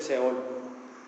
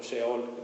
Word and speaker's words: Seol: fácil pero es el Seol ahí en el Antiguo Testamento viene muchas veces Seol o sheol Depende como lo quieran pronunciar y sheol en el